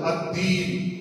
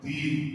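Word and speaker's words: الدين: ആ ദാല് ഇവിടെ ശബ്ദുള്ളത് കൊണ്ട് അദ്ദീൻ, അദ്ദീൻ എന്നത് ശബ്ദ കൂടുമ്പോ പലർക്കും താഹായി അദ്ദീൻ എന്നായി പോകുന്നുണ്ട്. മാലിക് യൗമിദ്ദീൻ, മാലിക് യൗമിദ്ദീൻ, മാലിക് യൗമ. ആ ദാലിന് ശബ്ദ വരുന്നത് കൊണ്ട് അത് താഹായി ഉച്ചാരണം മാറുന്നുണ്ട്. അത് വലിയ അബദ്ധമാണ്.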